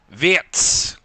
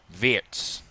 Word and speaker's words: Wirtz: Jan Fulkrug Wirtz, which I've learnt is the right pronunciation. Not Wirtz, Wirtz.